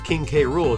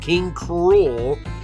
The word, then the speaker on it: King K. Rool: the way I pronounce King K rule too cuz I know I know it's supposed to be pronounced King Cru but I don't know